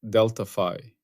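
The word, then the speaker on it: Δφ: Deltapi pronounced deltafi.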